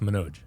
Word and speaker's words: Manoj: It's pronounced Manoj.